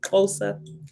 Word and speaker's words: Xhosa: and especially like the Xhosa language. That's how you say it, Xhosa. I had to think about it because it's the click. I call it the click language, right?